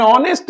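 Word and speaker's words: honest: क्योंकि यहां पर एच साइलेंट है।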